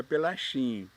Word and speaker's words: Pelaquin: como falei ronoaldo pelaquin e em italiano se escreve pela quem com CH e no Brasil se pronunciaria pela xin para não se pronunciar pela assim meu pai é português